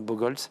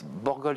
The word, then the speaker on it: Borgoltz: Vous partez dans le Nord, j'imagine, sur votre site, Bogols. Je ne sais pas si j'ai bien prononcé votre nom. Borgols, oui, voilà, je suis sûr que vous allez me reprendre.